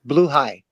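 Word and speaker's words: Blåhaj: Blue high. Blaha is blue high. It's Swedish.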